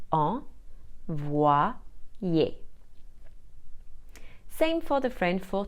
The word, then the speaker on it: envoyer: This happens when the Y is placed between two other vowels. For example, the French for to send is envoyer. We spell it E-N-V-O-Y-E-R. Here the Y is placed between the O and the E. It will be combined with both vowels to create a sound. O and Y is wa, and Y and E plus R is ye.